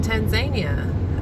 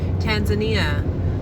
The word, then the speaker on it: Tanzania: position come open in Tanzania, and an American will quickly call that Tanzania, but it's Tanzania. And I'm still probably not pronouncing it entirely correctly.